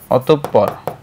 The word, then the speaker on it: অতঃপর: উচ্চারণটা এইযে বিসর্গের উচ্চারণ সাধারণত বিসর্গ যদি আসে এর পরের বর্ণটা দুইবার উচ্চারিত হয় যেমন আমরা বললাম অতঃপর অত পর ঠিক আছে বাট আবার আমরা যখন বলব দুঃখ এখন কিন্তু খ দুইবার হবে না।